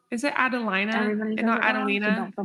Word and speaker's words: Adelina: correctly so it's it phonetically it looks like Adelina if you were to ask anybody in in the dictionary would be pronounced Alina but my parents pronounce Adelina so that's how I pronounce it but oh yeah